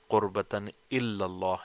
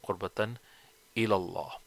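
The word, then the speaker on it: قربةً إلى الله: Many people say qurbatan illallah instead of qurbatan ilallah.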